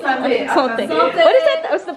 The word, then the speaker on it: santé: A santé. Santé. What is it? What's the right way to pronounce it?